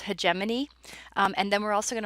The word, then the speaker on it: hegemony: be talking about those i know that that can look like hegemony but it's pronounced hegemony and then we're also